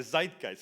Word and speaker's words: Zeitgeist: Zeitgeist. I'm sorry. Where are you from? Are you from Austria or Germany? Germany. Okay. Zeitgeist.